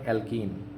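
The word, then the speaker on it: alkane: ধরেন আমি এখানে লিখলাম হচ্ছে অ্যালকেন। কী লিখলাম বলেন? অ্যালকেন। তারপরে কী লিখলাম বলেন তো? তারপরে লিখলাম মনে করেন অ্যালকিন।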